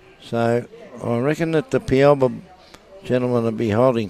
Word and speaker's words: Pialba: It's pronounced Pialba. Pialba.